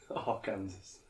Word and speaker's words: Arkansas: Why is this not Arkansas? Who is Arkansas?" Arkansas. Like there's 2 words in front of it changes the entire Yeah, pronunciation. Arkansas.